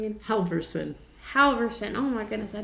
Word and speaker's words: Halverson: how do you say your last name again Halverson Halverson oh my goodness I don't know why